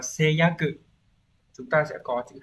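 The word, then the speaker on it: 誓約: Số 1 nhá, đọc là seiyaku.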